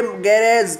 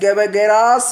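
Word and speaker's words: garage: he will go टू ए गैरेज, गैराज या गैरेज दोनों उच्चारण इसके, वह जो एक जो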